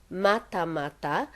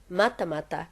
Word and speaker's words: Matamata: because she has probably grown up living in mata mata and hearing everyone call it matamata or maramata